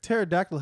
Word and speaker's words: pterodactyl: Let's talk about how pterodactyl has a P in front of it, and we don't ever pronounce it.